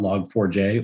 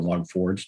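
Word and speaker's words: Log4j: over their vacation about log 4j or log forge depending on how you that's one of the debates is how you pronounce it uh but that big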